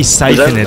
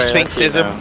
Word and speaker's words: Sphinxism: Have you ever heard of like Egypt? Like Sphinx? Like the cat? Oh, Sphinx? Gods? Yeah. Yeah, okay. So it's like in there, right, Sphinxism.